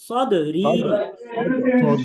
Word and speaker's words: صدري: ربي رب اشرح اشرح لي সদরি, ربي اشرح সদরি, صدري صدري সদরি বলা যাবে না, আমরা বলবো সদ, সদ, সদরি।